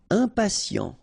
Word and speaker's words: impatient: Impatient, okay, remember, final T not pronounced, and then you've got this T, I and a vowel, so sien, sien.